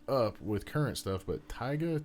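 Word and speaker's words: Tyga: because I'm not up with current stuff but tigga T yga yeah it's tigga yeah all right have you caught wind of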